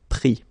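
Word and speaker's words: pris: Same thing here, final S not pronounced, so prendre, prix.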